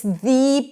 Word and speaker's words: the: Even though it starts with a vowel letter, it actually starts with a consonant sound - y, 'y' is a consonant. th'yuniversity.